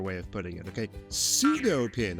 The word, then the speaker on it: pseudo-pin: Pseudo-pin, I think the grandmasters call it. But words with a silent P are tough.